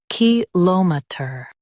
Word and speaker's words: kilometre: kil uh mee tuh kilometer kil uh mee tuh kilometer In US, stress l o m. In UK, stress k i l.